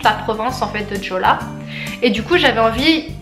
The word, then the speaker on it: Jeolla: Donc ce qu'il faut savoir c'est que Gwangju c'est situé dans la province de Jeolla, et en fait Jeonla, en fait ça s'écrit Jeonla, mais en fait Gwangju